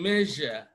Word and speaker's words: measure: in measure measure measure now it is wrong to say measure right no that's not the sound it is measure while this is sh sh sh this is measure measure all right the next sound